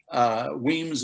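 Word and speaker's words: Wemyss: And this particular expression from Weems, Weems is spelled W-E-M-Y-S-S.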